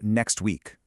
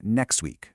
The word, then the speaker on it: next week: Pronunciation A was next week, with a really clear, sharp T sound. But pronunciation B was more like next week, where that T just, poof, vanished.